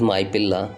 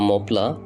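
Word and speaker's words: Mappila: were also called as my pilla uh which really meaning uh is son-in-law uh in english this word was wrongly pronounced and people used to call uh mopla after some time uh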